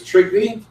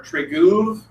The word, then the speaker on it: Trygve: Acceptable mispronunciations of my name are Trygve and. That's the only thing that I will accept.